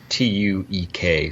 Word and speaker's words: Tuek: I think I'm pronouncing that correct. So, and they're having a meeting in Tuuk's office. And the audiobook, I think I say Tuuk. Tuuk? Okay, Tuuk. Mm-hmm. Yeah, it's a strange. It's Tuek, so I guess you could say Tuuk.